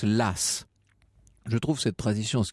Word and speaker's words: Law: écossais aux idées audacieuses john law alors ça s'écrit l'eau comme loi en anglais elle a w mais la tradition veut qu'on prononce las je trouve cette tradition